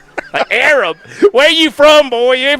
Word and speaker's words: Arab: The name you know it's called Arab.